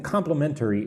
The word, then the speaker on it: complimentary: So, something complimentary is free. Let's look at the word complimentary. Complimementaryary. That's how I say it. I say it with four syllables.